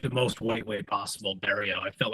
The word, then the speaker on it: Berrio: intro how do you say your last name bario oh wow that's what I said nice but